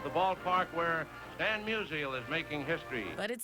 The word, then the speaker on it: Musial: of the pronunciation of M-U-S-I-A-L would have avoided all of those strikeouts. The first 3 sites were a hit, showing a good phonetic breakdown of Musial, like musical without the C.